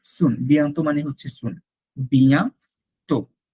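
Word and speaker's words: bientôt: যদি আমি বলি আ বিয়ান্ত, সি ইউ সুন, বিয়ান্ত মানে হচ্ছে সুন, বিয়া তো, বিয়া তো, নট তোত, বিয়া তো, আ বিয়ান্ত।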